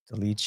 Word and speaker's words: Dolidze: Like, but that's the thing is like, I think, credit to Dolice, yeah. That's how you say his name. Like, Dolidze, you're talking about? Dolice, yeah.